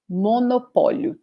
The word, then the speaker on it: monopólio: So in this case, monopólio, monopólio, ending with O, and we have this accent in the syllable pó. So the pronunciation is like this, monopólio, monopólio.